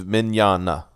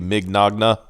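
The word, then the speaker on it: Mignogna: It's not like it looks. It's Mignana. Mignana. Okay, yeah. It's like those weird Italian bullshit. Yeah. If you were trying to pronounce it like phonetically, it would be Mignagna. Yeah, like bologna.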